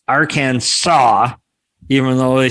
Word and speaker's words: Arkansas: it stated the names the name would be pronounced arcane saw even though they spell it our kansas and